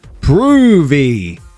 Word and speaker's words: Provy: I butchered her name for the first couple of years of knowing her. She never corrected me. It's pronounced Provy.